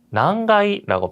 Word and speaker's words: 何階: 자, 난가이라고 발음을 했는데요.